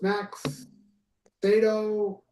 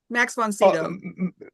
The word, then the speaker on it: Max von Sydow: Max Sato. Am I getting his name wrong? Who played the Exorcist? God damn it. Famous actor. Max Sato. Von Sydow, yeah. Max von Sydow.